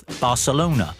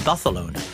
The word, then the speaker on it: Barcelona: Because Ajax, and then in the next breath, we heard about Barcelona, which of course should be Barcelona.